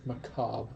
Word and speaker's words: macabre: I've heard the word macabre I've never heard Macabre m-a-c-a-b-r-e yeah the re is silent the only reason I